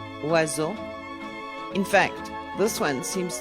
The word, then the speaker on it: oiseau: OI is pronounced like wa, in water, oiseau.